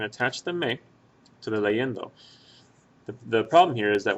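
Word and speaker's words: leyendo: le in like that now say this word uh this word leendo by itself leendo leendo the stress that you hear is over that e right before the N so the stress on leendo is right here and it happens to be the one two third syllable back from the end of the word so that's why have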